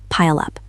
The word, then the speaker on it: pile up: Pile ends with an L. Pile up. Connect them.